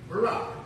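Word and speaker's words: Barak: Barack, like Obama. That's how it's spelled. B-A-R-A-K. Barack.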